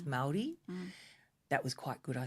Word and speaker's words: Māori: Maori's a really bad way to pronounce it. I think it's Māori.